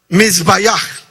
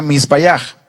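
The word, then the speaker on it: מִזְבֵּחַ: The altar is, there's a Hebrew word, and it says, and it's pronounced mizbayach. Hay una palabra en hebreo que se pronuncia misbayach, That means altar in que Hebrew.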